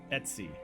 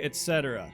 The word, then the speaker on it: Etsy: know is Etsy or I always say Etc because it's Etc and I don't see how you can't pronounce that as Etc but every call everybody else calls it Etsy but it's ice call it Etc um as I've said